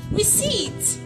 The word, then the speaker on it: receipt: T is silent in the word receipt.